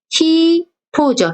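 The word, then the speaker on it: ひと: 이건 발음은 히토죠.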